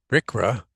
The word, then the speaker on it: RCRA: RCRA, as it's pronounced, regulates and permits municipal solid waste, like I said, under Subtitle D, and hazardous waste under Subtitle C.